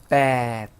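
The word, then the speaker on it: แปด: 숫자 8은 발음이 어떻게 됐었죠? bad 하고 길게 가자고 했어요.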